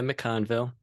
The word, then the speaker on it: McConville: um and how do you put your last name let me make sure I'm saying it right mickonville yeah mcconville mcconville okay um so and